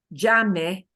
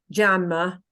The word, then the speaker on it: llame: with something like llame, make sure that in your English pronunciation, you vanquish, get rid of, completely obliterate that English habit of using the sound means a schwa ending, and English native speakers love the sound If you pronounce this llame as llama, person who's listening to you is going to be a little bit puzzled.